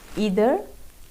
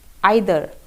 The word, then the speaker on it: either: आप दो तरीके से इसको बोल सकते हैं। या तो आप इसको बोल सकते हैं ईदर या फिर आइदर, नीदर या फिर नाइदर।